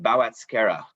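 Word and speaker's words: Boğazkere: it to us uh how to exactly pronounce these two grapes so it's oku's guzu and bow at skera and uh valencia actually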